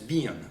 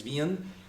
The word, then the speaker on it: Wien: form, is known as Wien. His last name is Wien, W-I-E-N, and in German we pronounce the W as a V, okay?